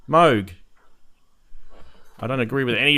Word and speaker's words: Moog: of mwg is like Moog the long o sound it rhymes with the word Vogue and then you've got these guys down the bottom saying they're idiots anyone knows it's pronounced Moog that's dumb it's clearly